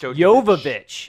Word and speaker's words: Jovovich: I watched a little kind of featurette of it was like a 12-minute video of Mila Jovovich just... Jovovich. I didn't realize that's how you say her name because I butchered it in the first You part.